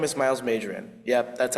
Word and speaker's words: Myles Majan: Hello, my name is Myles Majan. Yep, that's how it's pronounced, guys.